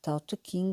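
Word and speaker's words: Tao Te Ching: também é por vezes chamado Taut King seguindo a pronúncia correspondente ao mandarial usado em Pequim. Tout King, a designação tradicionalmente utilizada em Portugal corresponde à pronúncia encantonense, a variante usada em Macau.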